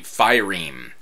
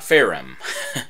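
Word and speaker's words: phaerimm: that's how that's pronounced the firim not pherom firim which are these kind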